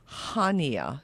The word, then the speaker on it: Chania: And they call it Hania. It's spelled Chania.